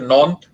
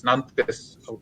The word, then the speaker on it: Nantes: ওখানে একটা শহরে যেটা ছিলাম সেটা হচ্ছে নন্থ, ফ্রেঞ্চ উচ্চারণটা হচ্ছে নন্থ, কিন্তু বানানটা হচ্ছে NANTES, নান্তেস উচ্চারণ করে এরকম।